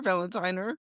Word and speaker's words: Valentiner: Valentiner. Valentina. Valentina. Okay. You've been saying that your whole life. Like Valentine with an R.